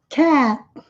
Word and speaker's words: cat: Esse A é um som intermediário entre um A e um E. Nós abrimos mais a boca, como se fosse para falar um A, mas pronunciam E. Cat. E esse T bem sutil no final.